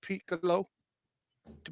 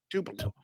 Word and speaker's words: Tupelo: nearly the selection are you talking there until Piccolo to because I'm saying it wrong Tupelo no it's way south of Tupelo yeah it's just before you get on 82.